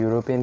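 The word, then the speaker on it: European: ए यूरोपियन आएगा क्योंकि यूरोपियन की जो प्रोनाउंसिएशन है वो आपका व्यंजन कॉन्सोनेंट साउंड से शुरू हो रहा है, इसलिए यहाँ पे जो है वो आपका ए राइट आंसर होगा।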